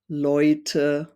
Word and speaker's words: Leute: And it could be an A umlaut, Ä, plus an U, or E plus U is pronounced Oi. So if you read words with these combinations, it could be like Leute, äußern, heute.